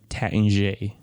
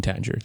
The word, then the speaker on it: Taittinger: Well, technically that is the right way to say it in English, but the French say Taittinger.